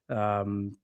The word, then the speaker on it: Okoye: be an absolutely beautiful goal, but credit to Okoye. Am I pronouncing that correctly?